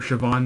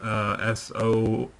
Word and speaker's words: Siobhan: There's another girl on there named Siobhan Magnus, Siobhan Magnus, because Siobhan is not spelled like how it sounds. It's got a weird spelling to it, but she does some awesome work too.